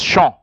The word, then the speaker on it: chant: It is chant. Remember, in French, you don't pronounce the last consonant unless there's an e.